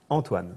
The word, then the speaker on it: Antoine: Antoine, but how do you pronounce it? Antoine.